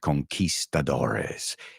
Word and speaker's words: conquistadores: we call them you you can say uh they're conquests but really they're called conquistadores and so saso and